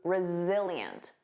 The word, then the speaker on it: resilient: Notice that Z resilient.